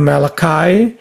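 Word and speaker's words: Malachi: Malaci dibacanya malakai. E tapi orang bule itu sebenarnya harusnya bacanya malaci.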